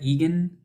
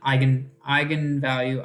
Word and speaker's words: eigenvalue: But it's pronounced like gun from your eye, like eye gun. Okay. Okay. Eigenvector, eigenvalue. Yeah. Okay. Anyway, just in case you're like, is that Egan? Egan? No, eigenvalue, eigenvector.